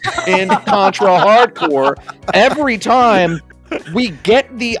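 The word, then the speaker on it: Contra: Hard Corps: pushing your political agenda not pronouncing the p and s and contra hardcore every time we get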